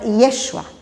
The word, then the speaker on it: Yeshua: É como se fossem pequenas variações do nome José, mas se pronunciava Yeshua, dando uma certa tônica para a letra E.